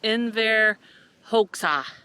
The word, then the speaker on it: Enver Hoxha: But I believe it is pronounced Enver Hoxha, and he was the dictator, and during the Cold War in 1968, he suffered from extreme paranoid, delusional stuff.